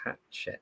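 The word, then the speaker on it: Hachette: That is hatch check learning which is h a c h e t is how that is spelled.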